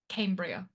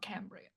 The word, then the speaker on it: Cambria: Also, also, Cambria, not Cambry.